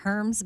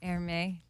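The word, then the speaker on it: Hermès: it I think so it looks like Herms but it's like err me so in this New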